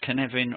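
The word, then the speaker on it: Cynefin: pronounced canvan but it's canvan rhymes with Kevin and again David a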